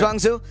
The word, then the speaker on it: Zhuangzi: Let's pick this Zhuangzi. Is that how we pronounce it? Yes, sir. Zhuangzi, and let's go from there.